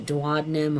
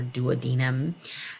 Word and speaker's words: duodenum: is called the duodenum people can pronounce a duodenum or duodenum then the middle section